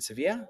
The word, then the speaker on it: Sevilla: And he was on a shoot in Sevi in Sevilla. Sevilla is how you pronounce it in in Spain.